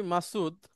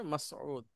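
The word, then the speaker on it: مسعود: তো আপনার নামের বানানটা হচ্ছে এরকম, মাসউদ, হ্যাঁ। আমরা তো লিখি মাসুদ, কিন্তু এটা হচ্ছে মূলত শব্দটা হচ্ছে মাসউদ।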